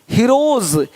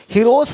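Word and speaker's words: heroes: हीरोज, हीरोस नहीं, देख रहे हो, रुपीस नहीं रुपीज, ज का साउंड आ रहा है हल्का सा।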